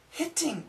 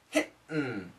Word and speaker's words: hitting: We usually say it with a D sound. Hitting. Hitting. Quit hitting me. Quit hitting me. Quit hitting me. Hitting, hitting, hitting. Getting, getting, getting. And if we use a glottal stop, hitten.